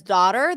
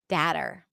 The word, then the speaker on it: daughter: The as in father has the same as daughter. That's true. In some dialects, you will hear it more rounded.